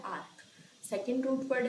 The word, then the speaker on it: arch: Okay, इसका pronunciation बोलते हैं आर्क।